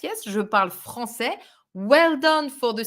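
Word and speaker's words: français: and you know that we put this little thing under the sea to avoid a pronunciation mistake that would be je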